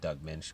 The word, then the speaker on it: Doug Moench: And I know that his name's pronounced Doug Moench because Kelley Jones told me so on a EVS video.